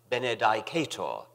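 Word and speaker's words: benedicatur: Benedicat, and after Benedicto Benedicata. I was one of the majority who pronounced this last word, Benedicata. Some of the older, classically trained fellows pronounced it Benedicator, which fascinated me, although I never dared follow them.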